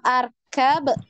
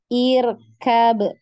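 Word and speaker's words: اركب: ini kira-kira dibacanya Bagaimana apakah arkab apakah irkab ataukah urkab tadi yang masih ingat irab nah Naam ahsantun ya jadi dibaca irkab kenapa irab ada yang masih ingat karena huruf setelahnya berharakat fathah karena huruf setelahnya berharakat fathah huruf ke berapa ketigaanya berthah ahsanti ya jadi karena huruf ketiganya itu fathah maka Hamzah wasnya harakat kasrah ya jadi bacanya irkab irkab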